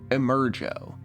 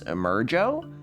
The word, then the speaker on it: Emergo: The gimmick is called Emergo. Interviewed on TV, Castle insists on the proper pronunciation, rhyming with the name Joe. He's proud of his invention. What's Emergo?